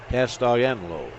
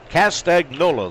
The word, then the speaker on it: Castagnola: Castellano. Castaganola, something like that. And the pitch misses. Count of a ball and a strike. Castagnola, the proper pronunciation of that name.